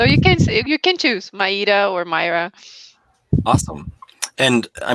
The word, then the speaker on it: Maíra: many people know your name is actually not pronounced myra in in portuguese is it no it's not yeah i go by mario just because it's so much easier and it